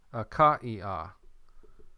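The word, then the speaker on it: Ἀχαΐα: In Greek, akaia, akaia. So we have capital alpha, key, alpha, iota, alpha. What's this thing right here? That's an iota subscript. You have that mark right here. We're going to pronounce each letter akaia. We're not going to pronounce it akai.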